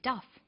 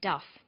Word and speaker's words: Duff: name is jacques and his last name is duff a first name is sometimes called a christian